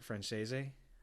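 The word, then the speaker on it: Franzese: I'm gonna say his last name wrong. Mikey Francese. Yeah. I say Francese. Yeah. It's Francese.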